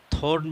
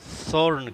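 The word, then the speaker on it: thorn: Esteem معنی تنا دھڑ۔ تھرون، یہ ٹی ایچ کو سا کا تلفظ دیا جاتا ہے، یہ امریکن انگلش، آپ تھورن بھی کہہ سکتے ہیں لیکن بیٹر یہ ہے کہ آپ سورن کہیں۔ سورن معنی کانٹا، سورن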